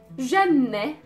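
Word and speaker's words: جنة: Janne, janne. Janne means heaven. Janne. Again, it has the noon and then the T marboota, so the pronunciation of the T was e, janne.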